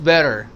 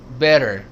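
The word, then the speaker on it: better: Soft D इट्स बेटर बेटर इट्स बेटर।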